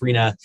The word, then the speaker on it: RHNA: as it's commonly called rhna is pronounced arena it's measured by building